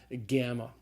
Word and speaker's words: gamma: so the third letter is the hard G generally sound called gamma the fourth letter is the